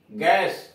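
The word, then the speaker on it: guess: इसमें you silent है। जी यू E double S, गैस, अनुमान।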